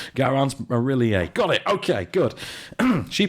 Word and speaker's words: Garance Marillier: Her name is Garance Marillier. And good pronunciation.